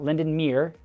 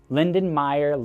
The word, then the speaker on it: Lindenmeyer: Not Lindenmere, not Lindenmeyer, Lindenmeyer Lake.